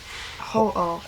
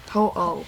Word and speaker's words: Ho-Oh: Ho-Oh. Ho-ho? Ho-Oh.